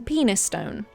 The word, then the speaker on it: Penistone: Heading north from Butthole Lane, which I tragically cannot street view and find that so frustrating, we find ourselves in Penistone. Okay, it's pronounced Peniston.